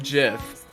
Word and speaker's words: GIF: it was a strong rule I'm sorry but I pronounce it Jiff call me crazy I I refuse to